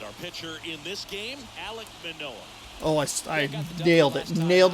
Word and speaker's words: Alek Manoah: If we can win today's game, ready to go, and our pitcher in this game, Alek Manoah. Oh, I nailed it. Nailed the pronunciation. Alek Manoah, 8 starts, 4-2 record, 2.72 ERA, 53 innings, 34 hits, 26 walks.